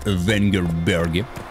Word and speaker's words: Венгерберг: Сейчас мы с вами отправляемся в порт Укаэр Трольде, чтобы там встретиться с Йеннифер из Венгерберги. Да, именно так надо произносить, Венгерберги.